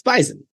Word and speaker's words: bison: have like a reason bison it's bison so it's it's it's like a hard Z and I'm saying it with like an S kind of I say with an S yeah you're saying phonetically